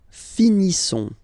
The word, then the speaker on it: finissons: Nous finissons. Okay? I-S-S-O-N-S. Ils sont. Nous finissons. Finissons. Okay? Final S not pronounced.